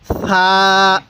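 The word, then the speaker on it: ثاء: হ্যাঁ, সা, সা, সাটা নরম করে, সা, সা। তাহলে আরেকবার এখান থেকে বলুন, বলুন আলিফ। এরপরে বলুন এই হরফটির উচ্চারণ কিভাবে পড়তে হবে। হ্যাঁ, বা। এরপরে বলবেন এই হরফটির উচ্চারণ কিভাবে পড়তে হবে। হ্যাঁ, তা। এরপরে বলুন এই হরফটির উচ্চারণ কিভাবে পড়বেন। হ্যাঁ, সা। নরম করবেন, নরম করে পড়বেন, সা।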